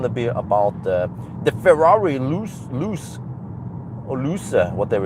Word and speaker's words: Ferrari: Uh but then it's it's pronounced Ferrari. Ferrari. You have to emphasize the double R also.